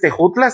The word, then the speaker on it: Tejutla: Entonces, Tejutla se se pronunciaba tejutla, pero la J en el idioma castellano vino hasta mediados del siglo XIX.